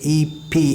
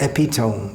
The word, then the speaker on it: epitome: For instance, if we see E-P-I-T-O-M-E, we'll think it's pronounced epitome, but it's pronounced epitome.